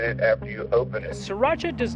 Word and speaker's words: Sriracha: and a 9 oz Sriracha hi I just want you to know that your Spira youra or Spira how pronounced you omit the r you just say three very distinct syllables there's a little break